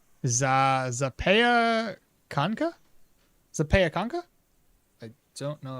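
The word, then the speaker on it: zapiekanka: Zapyanka. Zapyanka. Zapianka. There's a zapyanka. Zapianka. Zapakanka.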